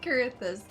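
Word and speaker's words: Coerthas: how fared you in the Frozen waste of kurus it's pronounced kurus I'm sorry you pronounced things for months one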